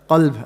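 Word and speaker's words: قلب: Qalb and kalb. Yeah? Heart or dog, depending on how you pronounce it.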